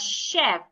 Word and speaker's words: chef: So if I want to pronounce the first word, I will pronounce it as chef. The CH should be sounded like SH. Chef, a person who cooks in the kitchen.